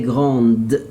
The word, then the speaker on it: grande: Elle est grande. I must pronounce the letter D here for female.